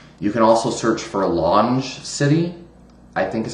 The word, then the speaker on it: LongeCity: You can also search for Longe City, I think is how you pronounce it, LONGECITY, which is, an old school forum over the last 20 years or so on the internet.